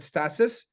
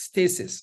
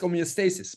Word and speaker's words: homeostasis: I would have said stasis, and Dr. Paul in the public forum said, Ken, it's stasis.